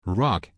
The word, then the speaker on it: Roc: Rock. R-O-C. Oh. The C is silent.